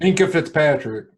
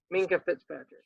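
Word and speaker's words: Minkah Fitzpatrick: Minka Fitzpatrick. Minka, that's his name. I was saying Fink. Minka Fitzpatrick.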